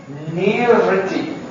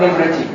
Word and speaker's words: nirvriti: And the syllable na means nirvriti, not nivriti, nirvriti.